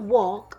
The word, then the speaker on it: walk: has a tricky part the w sounds like a w the L sounds like a l the K sounds like a k but that's a when I say the word walk the a sounds like an o that a is trying